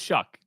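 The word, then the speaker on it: Shough: It's spelled like show, but it's pronounced Shuck.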